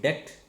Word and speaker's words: debt: When B happens or B comes after M, such as thumb, and then when T happens after B, then also B is silent or B is silent. That is DEBT, det, DOUBT, doubt, SUBTLE, subtle, like that.